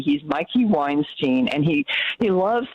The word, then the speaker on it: Mikey: pronounced even though it's spelled like mickey he pronounces it mikey he's mikey weinstein and he he loves to go into